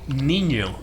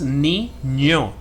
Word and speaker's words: Niño: In Spanish that thing is called ñ. And the pronunciation is that. Like, there's this word, kid, or boy, more like boy. When you say boy in Spanish, you say Niño. And that's where you use that letter, the second syllable.